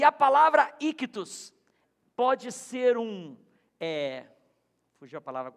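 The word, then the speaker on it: ἰχθύς: Ictus. Peixe em grego é ictus, I-C-H-T-U-S, ictus. Vamos falar juntos? Ictus. Fala só vocês? Você já falar grego já, tá vendo? Ictus. E a palavra ictus pode ser fugiu a palavra, um acróstico.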